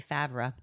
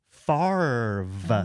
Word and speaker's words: Favre: It should be Favra. So, how in the hell is it pronounced Farve?